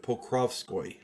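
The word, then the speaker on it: Pokrovskoye: in8 1869 in the small Siberian Village of Poco p o k r oov SK o Yee my Russian pronunciation is atrocious so bear with me uh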